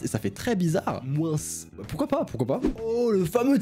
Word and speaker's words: moins: Ici on a moins et moins. Pendant ce temps-là, quelque part dans le sud-ouest entre Montpellier et Bordeaux, il y a des gens qui prononcent le S de moins.